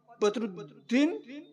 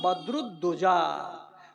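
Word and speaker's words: বদরুদ্দোজা: উচ্চারণ করতে পারে না একবার আপনার নাম বদরুদ্দিন আরে বাবা আধখানি হইল আখানি যে হইল না রে বদ্ নয়রে বাবা আমার নাম বদরুদজা জেনে নিয়ে জেনে নিয়ে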